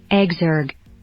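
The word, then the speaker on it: exergue: So here we are, some pronunciations, or is it pronunciation? Exergoo.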